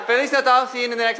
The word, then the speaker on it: Feliz Natal: Feliz Natal. Feliz Natal. What? Feliz Natal. Feliz Natal. Natal. Natal. Natal. Oh, Natal, not L. It's not an L. Natal. Natal. Okay, you say Feliz Natal, see you in the next episode.